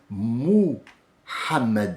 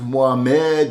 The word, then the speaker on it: Muhammad: Mais il a été appelé quand il est venu sur terre Muhammad alayhi salatu salam, parce que tout le monde va l'utiliser dans la bouche, ce mot Muhammad.